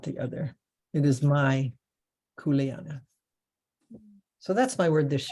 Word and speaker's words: kuleana: in this year and kuleana is a that's k-u-e-l-a-n-a there's pronounce every dang vowel and there's never two consonants in a row kuleana um and it